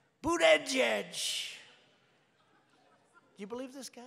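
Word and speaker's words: Buttigieg: I think it was boot edge edge. Boot edge edge. They said, think of it as boot and then edge edge, because nobody can pronounce this guy's name.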